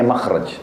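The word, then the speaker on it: مخرج: Bahasa Arabnya itu mim, kha, ra, jim. Bacanya makhraj. Kenapa digunakan kalimat itu?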